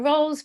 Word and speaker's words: Rolls: yeah my name is rolls pronounced you know like ham rolls and lou rolls and so on and